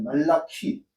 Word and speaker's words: 말라키: 예언서의 맨 마지막이라 말라기다 이거 말라키 말라키입니다. 번 그 발음 자체가 말라기가 아니에요.